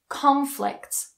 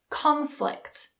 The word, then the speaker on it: conflict: produce produce produce produce Rebel Rebel Rebel Rebel conflict conflict conflict conflict so notice how that stress changes